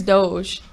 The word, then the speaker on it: Doge: Right now, Is it Dodge or Doge? he says Doge.